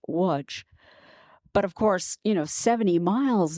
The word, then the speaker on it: Łódź: It's actually starts with an L, L-O-D-Z, but it's pronounced Łódź.